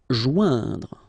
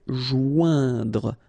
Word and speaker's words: joindre: Joindre. Okay, remember O-I-N together. Ouin. Okay, joindre.